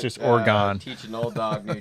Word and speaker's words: Oregon: Oregon. It depends on where you're at. Clearly in the Midwest, it's Oregon. It's a 3-syllable. If you're Timmy, it's a hard gone.